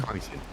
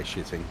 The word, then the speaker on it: chitin: Oh, you mean It's actually chitin? chitin. It's with a K. Even though you say chitting. I don't know, everybody wants to say shitting because that, yeah.